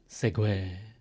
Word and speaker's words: segue: know this word Segway it's spelled funny I think it's a French word just make sure it's a French word segue so you move from